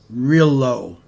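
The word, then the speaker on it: Rillieux: a black man named his last name is pronounced real low really low r-i-l-l-i-e-u-x in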